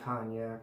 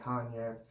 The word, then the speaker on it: Cognac: The, well, it says Aftershave Splash and Skin Food, the A&E Peach and Cognac. I'm sorry, I've been saying it wrong. Peach and Cognac.